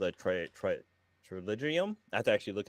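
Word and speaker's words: pterygium: my eye called a triligium. I have to actually look up how to pronounce it because it's like it's spelled with a P. It starts with a P, but the P is silent.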